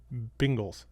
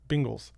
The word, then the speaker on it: Bengals: No, you say Bengals. Bengals. How about just Bengals? Bengals. Bengals. Bengals. Bingles. Bingles. He He says it like it's spelled B I N G L E.